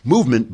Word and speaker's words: MVMT: Movement, by the way, for some reason, they took all the letters out of it, so it's not spelled movement, it's spelled MVMT.